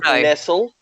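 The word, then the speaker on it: Nestlé: It's actually pronounced Nestle. It's pronounced Nestle. Sorry, Nestlecock. It's actually an avian variety of penis. No. It's pronounced Nestle, as in the chocolate, and it's chocolate cock.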